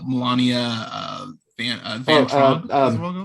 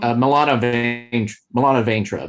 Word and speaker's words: Milana Vaintrub: Moore, who's played by I'm gonna butcher this, but Melania Van Traub. Milana Vaintrub, I think is how you pronounce her name.